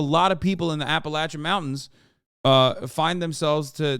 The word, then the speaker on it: Appalachian: awful for your health Appalachian is how you say it wait that no I